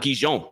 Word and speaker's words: Gijón: I don't know if anyone knew that it's not Gijón, it's Gijón. That's how you say it.